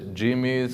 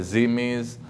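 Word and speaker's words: dhimmis: the concept concept of the jimes or the zis uh depending on your pronunciation but basically Islam looks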